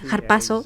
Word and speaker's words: harpazo: bastante interesante en algunos aspectos en griego es harpazo que se escribe h a r p a Z o